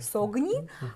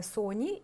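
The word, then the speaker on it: Sogni: фаворитах аромат називається Соні він пишеться з буквою г согні але з італійської він читається Соні і перекладається як сни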